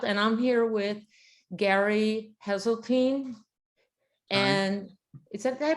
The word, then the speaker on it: Heseltine: Hello, I'm here with Gary Heseltine. And did I pronounce it right? Heseltine.